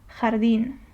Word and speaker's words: jardín: Let me show you a word for that, jardín. Jardín, which means garden in Spanish. So the jota is always pronounced like the flu H, so you kind of